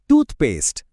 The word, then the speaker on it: toothpaste: For most of these words, the stress falls on the first part, the first syllable of the first word. For example, tooth and paste make toothpaste.